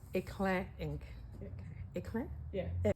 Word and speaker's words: éclat: Hang on, it's eclat ink. Eclat? Yeah. Éclat, éclat. The T is silent because it's French.